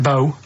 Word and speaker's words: BO: It's bo. That's pronounced bo. Well, yeah, but you got to It's not pronounced bow and it's not spout bow.